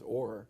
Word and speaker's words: Orr: So if you go back to the 5th floor, there's another portrait there of a gentleman whose name rhymes with core, and it's Orr.